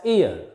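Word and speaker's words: heir: e i r here this h is silent is not pronounced it is pronounced as ear and next some abbreviations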